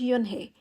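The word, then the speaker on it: Unhei: turned to Joey she nodded slowly yes it's pronounced yunhi and it means Grace Mr Kim added Joey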